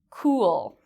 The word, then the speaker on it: cool: This is very different from the word cool. Cool. In this case, my lips make a circle, cool, and it's a longer sound.